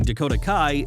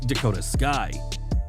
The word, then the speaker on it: Dakota Kai: During Raw, Bayley introduced her new partners but tripped over her words, calling Dakota Kai Dakota Sky. Bayley at least owned the moment, telling the fans, "I know I said it wrong, you dummies."